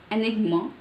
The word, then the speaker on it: enigma: It's not enigma. It's enigma. Enigma. Enigma. Enigma. It's like prolonged short sound. Short sound. Enigma. Enigma. Enigma. We hear it as ah, but it's enigma.